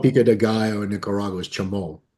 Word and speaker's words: Chimole: That's what they call Pika Deayo in Nicaragua is Chamal. It's spelled the same way. C H I M O L E, but it's pronounced Chamal.